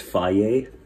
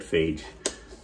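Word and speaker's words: Fage: You know you pronounce this faye? Faye. I always said phage.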